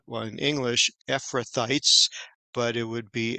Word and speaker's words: Ephrathites: mentions that there's a title here and it's pronounced well in English ephrathites but it would be ephra team in Hebrew and sometimes it's thought that these